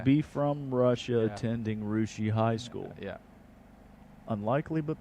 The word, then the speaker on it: Russia: Spelled like Russia, pronounced Rushi. I was going to say Russia, and I knew that was not right.